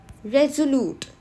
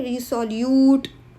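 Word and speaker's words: resolute: रेजोल्यूट okay? रिसोल्यूट रेजोल्यूट रिसोल्यूट नहीं होता। रेजोल्यूट okay? S is pronounce as सेट जी रेजोल्यूट from state first a रेज़ोल्यूट person is firm in their डिसिशनंस।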